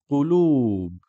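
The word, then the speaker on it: قلوب: Qulub. Qulub. Short vowel dhamma on the qaf, qu. Lam dhamma followed by waw, long vowel, qulub.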